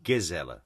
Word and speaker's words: Gisela: Is it a soft G or a hard G? It's Gisela, hard G.